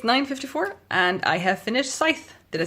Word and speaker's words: Scythe: It's 9:54 and I have finished Scythe.